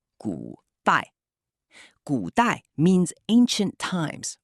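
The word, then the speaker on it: 古代: Pronounced "gu dai".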